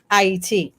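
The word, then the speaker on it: Ayiti: Ah is the sound of creation.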